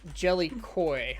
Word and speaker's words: Jellycoy: It is pronounced Jellycoy, like a fish.